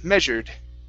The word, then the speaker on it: measured: word measured right here instead of measured okay short e measured measured measured all right